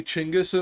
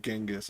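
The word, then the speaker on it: Chinggis: um the um but I will say chingis in there and I get smiles from The Waitresses because I say it correctly because like they they're they're not used to people saying it correctly they're they're used to everybody saying genas or Kublai right that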